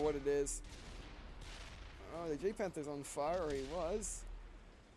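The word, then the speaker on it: Jagdpanther: Oh, the J-Panther's on fire, or he was. Or Jag-Panther. Whatever. I just say J-Panther because that's how it's spelled.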